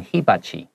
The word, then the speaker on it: hibachi: 好，这个如果是日文的话，他们可能会念成 hibachi。好，它的重音会在第一音节 hibachi。